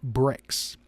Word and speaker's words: Brix: and Brix is spelled Bri X and it's pronounced brakes and it's one of the measurements of the